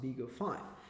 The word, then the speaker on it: BeagleV: similar fashion as risk five and but it's pronounced bigger five it is advertised as uh the first affordable